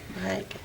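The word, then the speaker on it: Maryke: Marijke. Yeah, very much so. So, and that is spelled M-A-R-Y-K-E.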